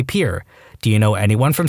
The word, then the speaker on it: Pierre: South Dakota Pier wrong she kept saying Pierre two syllables like the French name and he said it was Pier one syllable like what you fish off of he